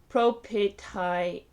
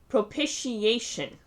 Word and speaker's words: propitiation: for oh tech pro how does one pronounce that that's propitiation pro p pro petit propitiation propitia propitiation propitiation propitiation